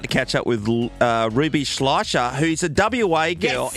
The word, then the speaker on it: Schleicher: There's just a bunch of letters in there that shouldn't be there. It's Schleicher. So Schleicher.